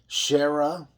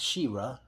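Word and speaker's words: Shera: gujar i apologize prince pronounced his name shara not shira shira here's a blast from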